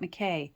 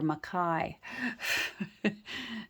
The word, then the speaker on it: McKai: M's family pronounced it so don't you dare call it McKay they were maai and uh Mrs William